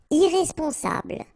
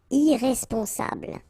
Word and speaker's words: irresponsable: Irresponsable. Don't pronounce the final E. Bl, bl will be the last sound. Sable. Irresponsable.